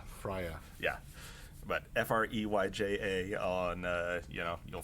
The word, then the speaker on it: Freyja: I use Viking beard oil from Fires of Freyja, Freyja. That's not how you pronounce it, but that's how you spell it. Freya.